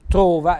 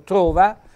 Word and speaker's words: trova: keegan mister ma dappertutto trova eco trova in italiano si dice trova con la o aperta in dialetto invece trova come sposa sposa impara l'arte e